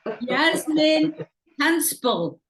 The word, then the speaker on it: Hanspall: Yasmin Hanspall. That's how you pronounce it, isn't Yes, it? perfect.